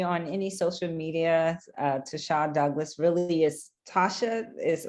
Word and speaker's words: Ta'Sha: far as me on any social media uh to shaw douglas really is tasha is my name is pronounced to shaw but it's pronounced tasha douglas on any social